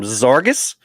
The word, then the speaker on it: Zarges: We also have Ryan from Zarges. And if you didn't know how to pronounce it, that's how you pronounce it.